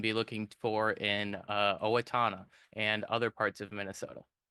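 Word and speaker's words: Owatonna: Max's poor pronunciations uh from Owatana, not Aatna.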